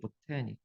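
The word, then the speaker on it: botanic: 액센트가 IC로 끝나면 바로 앞에 오니까 액센트 위치가 바뀌어서 바턴이 아니라 보타닉이에요. 보타닉.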